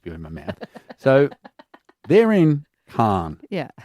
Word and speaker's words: Khan: Well, can does it? Some people call it can. Particularly if you're trying to rhyme with van.